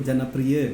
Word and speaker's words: Janapria: Pengucapannya udah benar tuh tadi. Apa tuh? Janapria gitu. Oh iya, aksennya benar ya. Aksennya udah benar gitu.